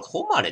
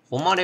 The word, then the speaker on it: ほまれ: これホマレって読むのか。ホマレっぽいな。